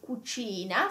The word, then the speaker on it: cucina: It can be a k sound, like casa, cosa, and cucina. So casa is house, cosa is thing, and cucina is kitchen. So it's a hard. It's a hard C, and this is a